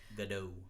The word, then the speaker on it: Gadot: Gadot. I think it is. I think it's a hard T. Hard? Isn't she French or something? Israeli. Is that? It could be Gadot.